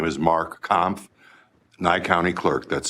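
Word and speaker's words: Kampf: Senators for the opportunity my name is Mark comp Nye County Clerk that's spelled k-a-m-p-f I'm uh testifying in opposition to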